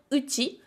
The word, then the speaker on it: うち: et en vérité, c'est ce kanji-là qui va pouvoir se prononcer ie ou bien uti, mais il y a une petite différence entre les deux.